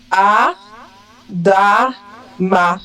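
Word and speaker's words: אדם: En hébreu, c'est Adam. Ok. Adam. En français, le AM est prononcé en. Mais en hébreu, il faut prononcer le même. Il ne faut pas dire en.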